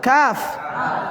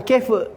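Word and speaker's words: كاف: Ini ainun, ain, ghain, faun, fa, qafun, qaf, kafun, kaf, bukan kef.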